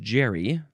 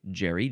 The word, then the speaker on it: Gerry: Elbridge Jerry. Last name Jerry. Ge R Y.